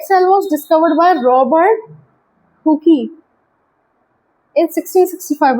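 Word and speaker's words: Hooke: Dead cell was discovered by Robert हुकी इन 1665। Robert हुक होता है बट लिखते हुकी है, जो प्रोनाउंसिएशन होता है रॉबर्ट हुक होता है, इन 1665।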